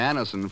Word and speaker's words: Anacin: When we ask you to try Anacin for the relief of pain due to a